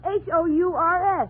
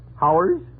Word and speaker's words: hours: Now, how do you pronounce Hours? H-O-U-R-S? Oh, Howers? You pronounce it hours.